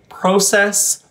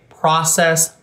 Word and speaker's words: process: In certain words that start with pro, Canadians tend to say these words with a true O vowel. So they tend to say process, project, and progress.